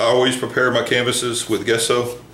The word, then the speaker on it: gesso: prepare my canvases with gesso or sorry gesso I always want to say gesso no it's just so so don't make fun